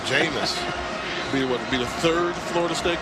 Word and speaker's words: Jameis: But I think the Heisman Trophy winner is going to rhyme with famous. Jameis.